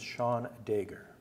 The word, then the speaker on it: Seán Dagher: My name is Seán Dagher.